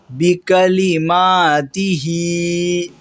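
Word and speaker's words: بكلماته: آپ کو بتا دیا ہے، صرف اس کا تلفظ کیسا ہے، پروننسیشن کیسا ہے وہ بتا رہا ہوں۔ ہاذہ بکلماتہ، یہ لفظ کو پڑھنے میں تھوڑا سا غلطی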